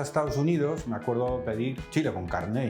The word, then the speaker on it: chili con carne: Entonces claro, le saco el menú, le lo enseño y dice you mean chile con carne. Y entonces claro, ya me di cuenta cómo se pronuncia chile con carne.